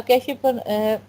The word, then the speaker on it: cache: next हमारा topic है कैश memory इसको कैश भी प्रोनाउंस करते हैं कैश भी प्रोनाउंस करते